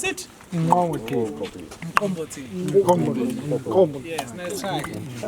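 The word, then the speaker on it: umqombothi: The name of the pier is called Umkomboti. Can you pronounce it? Umkomboti.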